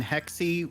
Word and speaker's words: Hexy: And Hexy rhymes with Flexy.